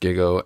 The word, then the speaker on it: Gigo: G I go put it together and it's pronounced Giggle and today I'm going to Showcase to you